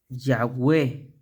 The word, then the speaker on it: Yahweh: La otra es esta. Ya, ya, Yahweh, Yahweh. Le voy a poner con esta. Yahweh. Y-H. Yahweh. Y-H. O Yod, Hey, Wow. Yahweh, Hey.